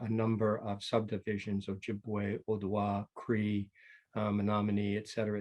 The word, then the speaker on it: Ojibwe: You're pretty good, Ojibwe.